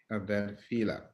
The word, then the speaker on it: Adefila: The last name is pronounced Adefila. Adefila.